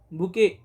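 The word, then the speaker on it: bouquet: यु क्यू यु टी जरी टी चा उच्चार नसलं तरी तिथे लिहावं लागतं उच्चारामध्ये बुके असाच आहे पण ट चा उच्चार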